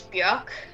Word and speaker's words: Björk: You wanna go check that out, Bjork? How do you pronounce it? Bjork. Bjork. I mean, technically it's Björk, Bjork.